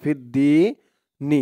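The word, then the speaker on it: فِي الدِّينِ: ফিদ্দ দালিয়া জের দি ফিদ্দি নি ফিদ্দিন এখানে অকফ করলে থামলে উচ্চারণটা করতে হবে ফিদ্দিন দি বলে তিন আলিফ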